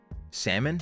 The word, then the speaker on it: salmon: you know you know salmon no I don't think there's another way to pronounce salmon if you pronounce the L then you're just wrong that's just not okay